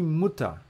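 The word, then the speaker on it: Mutter: é que é pai Fata boa agora de muta muta só uma coisa repara que Fata é mais é mais longo ó Fata muta já é mais curtinho muta muta muta isso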